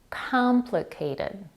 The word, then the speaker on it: complicated: give you one example let's first look at the word complicated listen carefully to the first syllable complicated it's not complicated it's complicated complicated complicated the first syllable come